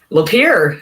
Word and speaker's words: Lapeer: friend and new CFNer, Lapeer, like it's spelled. Okay, so there you go. Rhymes with beer used to be my nickname in university. One day Lapeer. It's how you can remember.